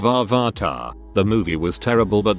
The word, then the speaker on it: Avatar: lines of the movie they must pronounced avatar and said or vartar instead of avarta the movie was terrible